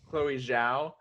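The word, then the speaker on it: Chloé Zhao: by chloe how do you say that blues chloe zhao chloe zhao yeah who will be doing the eternals but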